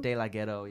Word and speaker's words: DeLaGhetto: DeLaGhetto, yeah.